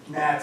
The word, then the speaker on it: gnats: I'm sorry, but the G is silent. You mean gnats and government.